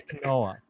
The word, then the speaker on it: quinoa: So they don't pronounce it the way it's spelled. Like quinoa. Like, sorry, it's quinoa.